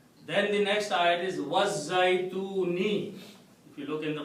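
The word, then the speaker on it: الزيتون: Then the next ayat is Wazzaytuni.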